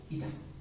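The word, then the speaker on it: η: এখানে এই চিহ্নটার নাম হচ্ছে ইটা, উচ্চারণ করব ইটা।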